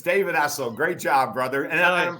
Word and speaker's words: David Essel: It's David Essel.